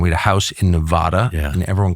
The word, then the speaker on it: Nevada: so I never do it's Nevada like Vlad and it's Nevada and in the last say 30 years I grew up going to Nevada yeah and we had a house in Nevada and everyone called it